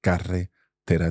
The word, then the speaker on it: carretera: So if you struggle with that one, just as you have done, start with carre, carre, carre, and then tera, tera, tera, and you compound. Together. Carre, carre, carre, tera, tera, tera.